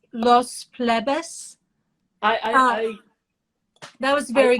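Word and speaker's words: Los Plebes: lost i think i i believe the way to pronounce it is los pledas las vegas we'd say we in a in in the us we'd say the plebes but in spanish i think it's los plebus i i that was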